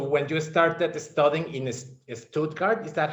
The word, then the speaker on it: Stuttgart: I want to take you all the way back to when you started studying in Stuttgart. Is that how you say it? Stuttgart, yeah, yeah.